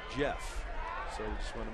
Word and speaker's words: Jff: Sports San Diego but the spelling of his name j FF which is in fact pronounced Jeff so we just want